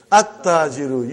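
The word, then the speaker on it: التاجرُ: At-Tajiru. You did not pronounce Lam. Why you did not pronounce? Because it is sun letter.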